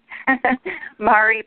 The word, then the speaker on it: Mari: my name which is Mari Mari I should have known better I was speaking with a Facebook expert and her name is Mari and she says it's Mari like in calamari but you wouldn't have